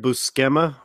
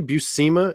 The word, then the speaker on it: Buscema: had to ask Stephanie, is it really Buscema? And she goes, yes, it's not Buscema. And she goes, my uncle tells me all the time, don't let anybody mispronounce our name, because nobody has ever said it right twice.